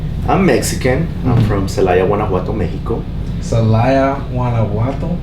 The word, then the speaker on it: Guanajuato: I'm from Celaya, Guanajuato, Mexico. Celaya, Guanajuato. How you say it? Yeah, Guanajuato. Guanajuato.